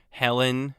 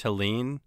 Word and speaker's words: Helen: Waiting 3 months to prove that Helen was not pronounced Helene, that's fine.